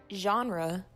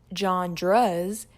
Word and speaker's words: genre: genre or as my 8th grade English teacher used to pronounce it John dres is a way through